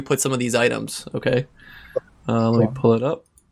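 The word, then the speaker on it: okej: me where you put some of these items, okay?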